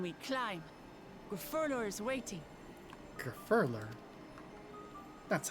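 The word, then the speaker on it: Gurfurlur: the way then we climb gurler is waiting gurer that's how you say it okay oh [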